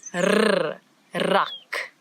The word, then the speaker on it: rak: been talking about, but now we've got a new sound in Afrikaans that a lot of people in different languages struggle with a little bit, and it's the rrr, as if your tongue is jumping up and down in your mouth. Rrr, rak.